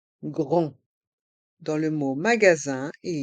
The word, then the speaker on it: grand: Un grand magasin. Un grand magasin. Dans le mot grand, le D est muet et les lettres A et N font le son en. Grand.